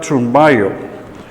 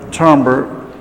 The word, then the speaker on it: Thunberg: 16 años es grieta granberg aunque ella se presenta como greta zumba yo es decir esa es la pronunciación en sueco que ella le da a su apellido pero todos los presentadores